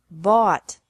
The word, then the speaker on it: bought: past and past participle this can be spelled o u ght or a u ght but the pronunciation is the same bring brought brought bu bought bought catch caught caught fight fought fought seek sought sought teach taught taught think thought thought remember that the g is silent in these verbs verbs with three different